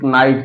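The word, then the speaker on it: knight: शब्द के शुरुआत में जब यन के पहले के आता है तो उच्चारण नहीं होता। किसका उच्चारण नहीं होता? के का उच्चारण नहीं होता। जैसे नाइट, के एन आई जी एस टी, नाइट।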